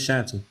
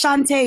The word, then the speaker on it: Shantae: And is it Miss Shantae or Miss Shanty? It's Shantae. It's pronounced Shantae.